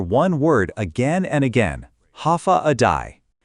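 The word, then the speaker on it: Håfa adai: Step foot on Guam and you'll hear one word again and again, ha aai. Pronounced ha a day.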